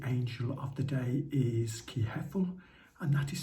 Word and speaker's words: Kehethel: 29th and the angel of the day is key heffel and that is spelled k e h e h-e-t-h-e-l and in